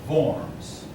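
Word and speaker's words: Worms: spell it's actually pronounced forms but it's spelled with W they want to notice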